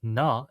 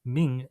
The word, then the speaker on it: 名: This is pronounced as na in Japanese and ming in Chinese.